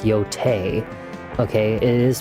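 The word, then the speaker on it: Yōtei: games like the second part of Ghost of Yotai. I know that you guys are saying out there it's pronounced Yotei.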